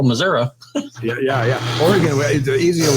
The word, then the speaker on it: Missouri: patel the other day i couldn't say missouri right i was saying missouri he says no missouri yeah yeah oregon the